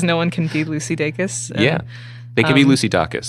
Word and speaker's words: Dacus: I guess, because no one can be Lucy Dacus. And, they can be Lucy Dacus, which is how I mispronounced Lucy your Dacus, name. Totally. Lucy Dacus up for grabs. Lucy Dorcas, Lucy Dracus.